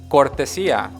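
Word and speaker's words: cortesía: you say courtesy courtesy courtesy is court Asiya yes which is my name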